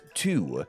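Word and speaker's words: 荼: plant however is this and it's pronounced as two it wasn't until the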